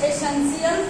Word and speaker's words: essential: अगला देखिएगा, bread and butter dash एसेंशियल for one's life. एसेंशियल means होता है आवश्यक होना, इसके स्पेलिंग एग्जाम में ध्यान रखिएगा, ESSENTIAL, TIL को शियल पढ़ा जाता है, जैसे डिफरेंशिएट तो TIAT